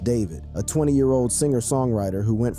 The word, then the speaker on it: D4vd: Today, fans know him as David, pronounced David, a 20-year-old singer-songwriter who